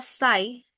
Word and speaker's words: site: Pero para irlos recapitulando aquí, el primero se pronuncia SAI o sitio en español.